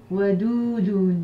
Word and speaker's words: Wadoudun: attributs donc d'Allah, affectueux, qui se prononce Wadoudun. Wadoudun, d'accord?